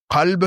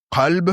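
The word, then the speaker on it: قلب: Qalb, c'est le cœur, et kalb, c'est le chien. Qalb, c'est le cœur.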